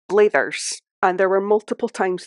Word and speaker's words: Blathers: name of this character because it is spelled similar to Mathers I have always on my own pronounced that blathers and there were multiple